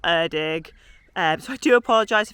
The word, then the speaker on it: Erddig: favorite one even though I think it's Irving not erdog um so I do